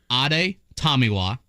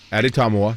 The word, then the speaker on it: Adetomiwa: Ade Tomiwa. Okay. Tommy is definitely like a big part of one of the syllables. Okay, that's cool. Addy Tomiwa, yep.